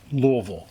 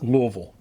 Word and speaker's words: Louisville: That's the pronunciation of a Louisian s in the spelling. It's silent. It's silent. This is Louisville. Am I doing it right? Yes. Louisville, Kentucky.